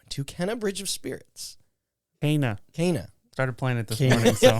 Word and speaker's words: Kena: Kana. Started playing it this Kana. morning, so Kana. she introduces herself at the beginning of the game as Kana.